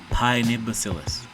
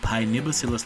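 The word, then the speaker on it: Paenibacillus: the official name for the bacteria is called pione bacillus I hope I spell this right pione bacillus I mean I hope I pronounce this right pie nibosillus larvae it's p-a-e and is a Nancy i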